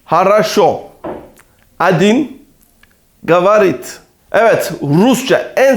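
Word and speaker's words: хорошо: edildi bulmak zor olabilir haraşo sözcüğünde vurgu son hecede olduğundan dolayı diğer oar a olarak telaffuz edilmektedir bunun yanında haraşo sözcüğünde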